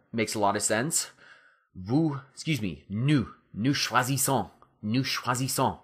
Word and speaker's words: choisissons: Nous choisissons. Nous choisissons, right? Because you've got to get that son, just like cherchons, okay?